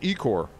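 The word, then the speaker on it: ichor: many like angry comments over that one it's pronounced eek or it reminded me of Young Frankenstein remember Young Frankenstein where he meets uh Igor he's like dr.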